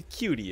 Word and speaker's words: QT: on beas's good side never pronounce the Q and the T as individual letters it's definitely supposed to be cutie as in CutiePie CutiePie actually he used